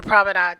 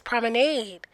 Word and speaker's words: Promenade: For the longest time, I have called this the proomenade chops. But the correct pronunciation is prominade weigh in.